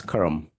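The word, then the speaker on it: कर्म: you know um karma in English is a karma is a uh English kind of pronunciation the actual Sanskrit word is Kum you know when you write in English then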